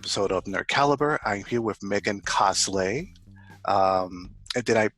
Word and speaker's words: Megancosslay: I'm here with Megancosslay. Did I pronounce that correctly? It's hmm cosplay without the P.